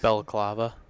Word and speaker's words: balaclava: Just how's the it face pronounced? mask. Balaclava.